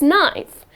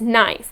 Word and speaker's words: knife: the correct pronunciation is knife and i kept wondering why is that well that's english so again the letter k here is silent and the correct pronunciation of this word is knife and not connive next